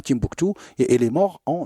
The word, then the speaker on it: Timbuktu: Et Timbukti par rapport à la ville où il habitait, qui s'appelle Timbuktu, même si aujourd'hui on la prononce Tombouctou. C'est Timbuktu, comme Tinrir, Tinjdad, Tindouf.